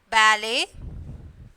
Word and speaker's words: ballet: In the box, first one you have to write whistle. Okay, and then ballet, and then listen. So, here T is the silent letter.